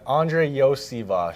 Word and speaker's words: Andrei Iosivas: Yeah, it's Andrei Iosivas. Iosivas. So, some people know me as Yoshi, but the SH part comes at the end of my name, actually.